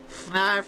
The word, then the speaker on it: Fnarf: You know Fnarf is looking for you. Fnarf rhymes with barf.